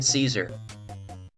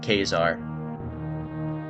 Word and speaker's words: Caesar: I'm pretty sure it's supposed to be pronounced Kazar. Like, if we're actually going to like, excuse me, what's it, like proper Roman or Greek pronunciation, Greek or Roman pronunciation, something like that.